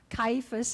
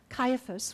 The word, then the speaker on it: Caiaphas: high priests house and pronounced the different ways Caiaphas as he says or Caiaphas which is what my pronunciation guide suggests that it was probably